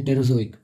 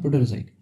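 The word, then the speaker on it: Proterozoic: And then टेरोजोइक, this part, ठीक है, ये फेनोरोजोइक है यहाँ पे, ये है टेरोजोइक, ठीक है, प्रोटेरोजोइक, सॉरी प्रोटेरोजोइक, गलत प्रोनाउंस करा था मैं, प्रोटेरोजोइक, ठीक है, ये भी बहुत लंबे समय तक था।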